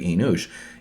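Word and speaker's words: אֱנוֹשׁ: like that is because Enosh, when you see this N at the beginning, N means like high priest or chieftain, okay? Ush, U-S-H, so remember, there's no vowel here, so Enosh could be Enush.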